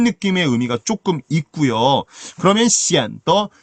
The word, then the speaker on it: 显得: 이거 성조가 어떻게 되죠? 显得 아닙니다. 경성이에요. 발음 따라오세요. 显得. 이 발음을 제가 대학에서 강의하다 보면 어려운가 봐요. 이 발음이 꼭 그렇게 이성의 느낌을 집어넣더라고요. 显得 이러시면 안 되고요. 그 앞쪽에 있는 시엔만 아래로 뚝 떨어뜨리세요. 显. 그 다음에 더는 그냥 놓는 겁니다.